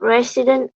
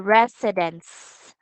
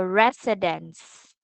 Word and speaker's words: residence: it should be a residence with us so this one pronounced with s so residence okay one more time